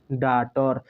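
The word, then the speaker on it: daughter: इसको पढ़ेंगे आ और यहां पर टी के पहले जी एच आएगा तो जी एच साइलेंट हो जाएगा इसके बाद साइलेंट वाले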